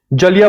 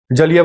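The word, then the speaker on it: जलियाँ: ऑन 13 अप्रैल 1919 जलिया वाला बाग मकर happened जलिया वाला बाग मिसक एम ए एस एम ए जलिया वाला जालिया नहीं जलिया जलिया की स्पेलिंग जी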